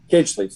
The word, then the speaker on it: Kinchley's: All right, guys, so real quick, this pizza place in Ramsey, Coach, what's the correct name of it? Kinchley's? How do you say that? Kinchley's, yes. Kinchley's.